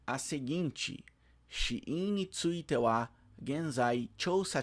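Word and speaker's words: 死因: Shiin, uma palavra em kanji que significa causa da morte e que se lê, se pronuncia shiin, shiin.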